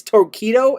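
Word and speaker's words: Torqeedo: lithium battery one horsepower torquido it's torkido it's spelled with a Q uh trolling motor brand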